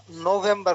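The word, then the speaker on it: November: আগেই তুমি এটা উল্লেখ করছো শব্দের শেষে থাকলে উচ্চারণ হবে না সেই রুলসটা এখানে প্রযোজ্য হবে আর নভেম্বর প্রথমে শুরুটা হয়ে যাবে নৌজানের মধ্যে মতো নো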